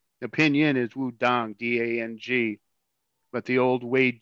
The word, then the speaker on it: Wudang: The Pinyin is Wudang, D-A-N-G, but the old Wade Giles system is spelled T-A-N-G.